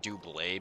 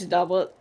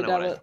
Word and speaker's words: doublet: Like, so Pi, do you pronounce it warm double? Because I'm pretty sure it's still doublet since there's not that little apostrophe thing above the E. It's doublet. It has to be doublet.